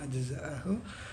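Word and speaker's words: أجزاءه: Terus yakni anna aqsamal kalami, menghendaki musannif bahwa bagian-bagian kalam itu ajza'ahu, jadi bacanya ajza'ahu, allati, bagian-bagiannya kalam itu,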